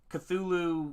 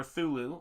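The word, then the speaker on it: Cthulhu: I've done sort of my um cthulu or thulu as it's properly pronounced and my brother Jeremy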